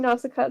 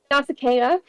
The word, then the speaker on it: Nausicaa: now that I know how to pronounce that, because I've been saying Nausicaa this entire time. Same. Nausicaa.